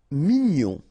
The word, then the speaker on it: mignon: Mignon, okay, here in that case, G-N-O-N, gnon, mignon.